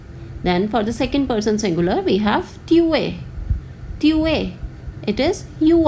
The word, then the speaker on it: es: The spellings are different but the pronunciation is same.